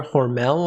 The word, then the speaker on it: Hormel: down this company here hormel i believe it's pronounced that's spam skippy and